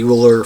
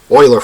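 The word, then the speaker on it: Euler: n is given by the uler function Oiler function I cannot upset the math nerds by mispronouncing Oiler name right given the prime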